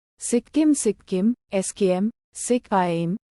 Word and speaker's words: Sikkim: sikim sikim skm sikim Nepali pronunciation sikam is a state in